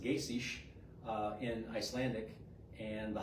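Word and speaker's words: Geysir: thermal area it's uh the geyser is actually pronounced Gish uh in Icelandic and the hot spring is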